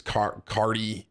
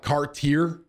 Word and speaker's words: Cartier: Anyone here into designer shit, it's Cartier. I call it Cartier, but I don't think that's right.